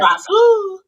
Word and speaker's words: Grasu: I Grasu. got him back. Grasu. You gotta say it like that. Like it's spelled Hronis.